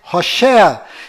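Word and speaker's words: הושע: mudou para Josué mas a pronúncia correta de Oséias é rosé e quando Moisés mudou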